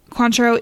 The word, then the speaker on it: Cointreau: Cointreau, it's a brand of triple sec.